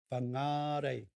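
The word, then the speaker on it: Whangārei: the beautiful city of fangarei now notice the correct pronunciation of fungi is with the macron over the second a bangnare so there you have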